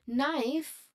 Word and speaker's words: knife: While the knife which has a silent letter K it for is for